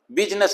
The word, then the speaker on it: business: को पता भी है, बिजनेस हम इसको बोलते हैं। अब बिजनेस में यू, यहां तो साउंड आई ई की, और यहां कोई साउंड आई नहीं, तो आई तो इसमें साइलेंट है, तो यहां ई क्यों आया?